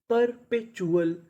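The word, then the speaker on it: perpetual: PER पर, यह भी हमारा कोड है, PER को पढ़ते हैं पर पे, TUAL, इसे क्या पढ़ना है, चुअल। तो मीनिंग बनी परपेचुअल, परपेचुअल, परपेचुअल।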